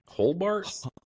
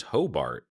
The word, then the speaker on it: Hobart: um anyways yeah it's putting an in that holbart holbart is it what is it I think it's Hobart it is hobot it's h h o b a r t